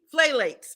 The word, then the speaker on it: phthalates: It's spelled with a P, phthalates, okay?